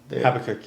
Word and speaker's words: Habakkuk: Habakkuk, yeah.